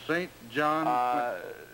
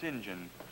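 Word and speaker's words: St. John: John Quincy or anything it's pronounced Sinjin Sinjin I'm sorry sir that's the way it's pronounced you English no good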